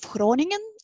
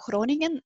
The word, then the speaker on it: Groningen: to that city of groningen that's a pronunciation how you pronounce that it's Dutch pronunciation scrolling and like you have something in your throat basically but it's that's how